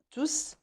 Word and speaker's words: tous: tous acheté un dictionnaire donc ici pour tous s prononce parce que c'est un prenons tous ici ils remplacent